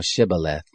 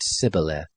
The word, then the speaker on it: Shibboleth: If he said no, then they said to him, "Say now Shibboleth." And he said Sibboleth, for he couldn't manage to pronounce it right.